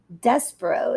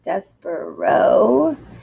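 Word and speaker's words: Despereaux: are titles of books so the tale of despero is how you pronounce that despero and i have to underline dear mr henshaw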